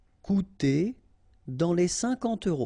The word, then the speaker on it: coûter: Okay, remember we've got this accent circonflexe on the top of U here, but then you don't pronounce it. Coûter, so technically you've got this O and U together and you will have the sound OU, cou, coûter.